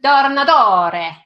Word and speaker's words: Tornatore: I go into my Italiano. That's awesome. Isn't that, by the way, how you pronounce it? I do hope so. You know, when I'm in Italy and when I'm especially gregarious, that is exactly what I say.